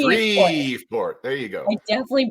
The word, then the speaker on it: Shreveport: How do I say that? That's Shreveport. Say it with me. Shreveport.